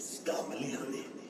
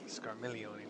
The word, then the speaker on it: Scarmiglione: Not only did the mortals conquer Troy, they defeated Scarmiglione. Scarmiglione, my bad. I've been pronouncing the G the whole time.